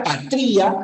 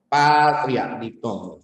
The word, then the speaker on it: patria: e dipongo patria dongo si la pronunciación fuera patría sería estamos en nuestra patría nada que patria muchachos fíjense uía uía